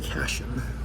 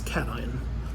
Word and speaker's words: cation: talking to a chemist how would a non-chemist pronounce that probably cashion right but that's not cash in its cation so that's how a chemist would pronounce that so a cation is